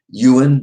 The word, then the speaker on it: Yuan: early yeah his uh his name is uh Yuan 9250 it's like U Yuan it's a he's but